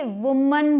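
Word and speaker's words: women: देखिए वूमेन blue O एम ए एन इसे वूमेन बोलते हैं जिसका मतलब है औरत या महिला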